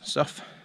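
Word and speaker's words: Sough: this is soft damn spell s-o-u-g-h but pronounce stuff and I'm assuming that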